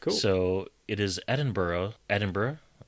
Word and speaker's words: Edinburgh: And uh, this book features 18 untitled chapters and an acknowledgement section and is set in Edinburghough in uh, 1645. Edinburgh.